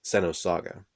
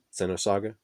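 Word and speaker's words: Xenosaga: the movie was called Sano saga I think that's how you're supposed to say it it's spelt with an X X e and o sa GA Center saga that's what I always called it but anyway I asked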